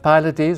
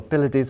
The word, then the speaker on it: Pylades: So we have Pylades, or Pylades, how do you pronounce him? We're saying Pylades, but you Pylades can say Pylades, like.